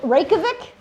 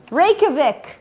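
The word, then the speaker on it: Reykjavík: Is it Reikovic? Reikavik. Who wants to spell it?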